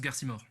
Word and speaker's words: Garcimore: Ça se prononce Garcimore.